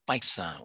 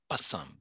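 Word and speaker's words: पैसा: We sometimes call it paisa. We sometimes call it pasam. Both pronunciations are acceptable, but that it means money.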